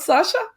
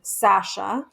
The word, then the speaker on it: Sasha: I will reassure you that actually you can pronounce my name that way. And as a matter of fact, I'm thinking my father pronounces my name Sasha. Aha. And my Good. mom pronounces it more like Sasha. And then some people say Sasha with like an O-ish sound.